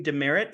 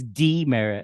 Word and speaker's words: DeMerritt: welcome our special guest this evening Mr dearit who you would know from the movie b e t he is an actor I'm sorry you mispronounced that it's D Merit how many times tell you we went over